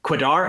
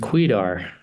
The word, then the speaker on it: Kwedar: here with um Greg quidar is that how I pronounced your name it's actually pronounced quedar quedar quedar well it's a pleasure